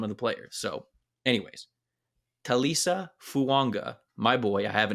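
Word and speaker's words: Taliese Fuaga: If you look on Oregon State's website, they have a pronunciation guide, and it says Talisa Fuaga.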